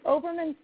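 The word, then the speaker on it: Hoberman: the name of that ball again it's an oberman sphere sphere it's called h or it's spelled h-o-b-e-r-m-a-n um sphere it's super fun the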